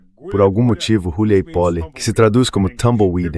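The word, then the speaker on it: Huliaipole: A principal fortaleza é Uliáipole, que aliás é a junção de duas palavras, Uliai e Pole. Todo mundo continua pronunciando errado. Por algum motivo, Huleipoly, que se traduz como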